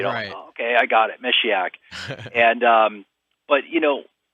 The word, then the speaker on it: Meshiaak: do you pronounce this mesak just think of a female she in there you know okay I got it mesak and um but you